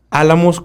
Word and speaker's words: Álamos: Álamos con acento en la primera A.